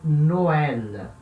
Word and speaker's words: Noël: Tem que ler como se fossem coisas separadas. Então, Noël.